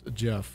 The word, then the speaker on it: Gef: just the Jeff than the way Jeff is spelled you know G but it's it kind